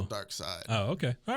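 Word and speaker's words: Darkseid: how you say it I thought it was dark seed dark side is it yeah isn't it spelled like seed like German version no I mean there's no LOF WAFF no no no there's no there's no e on the end but it's still dark side oh okay all right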